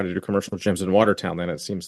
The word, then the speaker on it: Watertown: You guys say Watertown. What do you? Well, like, okay, so we'd probably say Waterton. That's Like, you guys pronounce the You're whole missing thing.